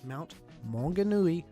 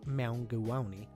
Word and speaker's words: Maunganui: to pronounce Mount Maunganui the simple text-to-speech video that gets the pronunciation right Mount Maunganui a text-to-speech program goddamned tips to speech program pronounced it correctly but I think it goes deeper than the surface value of of a British man going mound go Omni I think it blinks